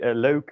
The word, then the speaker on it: leuk: Note the pronunciation. So it's o. We covered it in the first lesson, but it's worth repeating, literally, and also how to do it. So it's pronounced as o. You can kind of mimic this sound if you don't know how to do it, as starting at with an and then going to an u. Leuk.